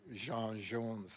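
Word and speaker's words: J'onn J'onzz: Plus, I think it was cool to pronounce it Jean Jones. It made it sound French. Yeah.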